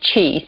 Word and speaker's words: Chi: My brother's name is Tao, T-A-O, pronounced Tao, and my sister's name is Chi, C-H-I, so we are Tao, Zen, and Chi.